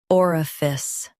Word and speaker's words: orifice: Stress or and keep fice light.